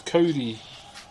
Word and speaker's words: Kauri: The other one is Kauri. K-A-U-R-I is how you spell it.